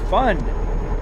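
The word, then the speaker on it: Fyn: Uh, Finn pronounced fun is a Danish name for Finan Denmark.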